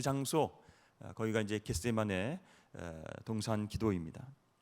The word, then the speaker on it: 겟세마네: 여러분, 겟세마네가 무슨 뜻이죠? 네, 발음을 잘 하셔야 됩니다. 네, 겟세마네입니다.